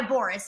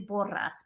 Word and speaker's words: Borras: Yeah, but it is Borras, but yeah, that's it. So Boris. And so then people think it's spelled Boris because of Boris. Yeah. Yeah, and so I was gonna try to roll the R's, but I was just like, yeah.